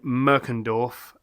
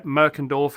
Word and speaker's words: Merkendorf: Hummel Brewery over in Merkendorf. I think it's Merkendorf. If that's how you say it. Yeah, Merkendorf or Merkendorf. Yeah, Merkendorf. There it is there.